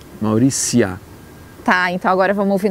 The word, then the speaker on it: Mauritia: Mas aí que está, a pronúncia em latim do TI, ela, TI seguido de uma vogal, ela vira si, Mauricia.